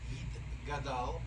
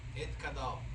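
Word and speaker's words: Yitgadal: First one is It Gadal. That's the correct way to say. Not correct way to say is Et Kadal.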